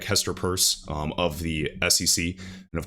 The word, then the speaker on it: Peirce: And of course, I always butcher her last name. I've been doing it for like 2 years, but I believe it's pronounced Peirce. I always say Pierce.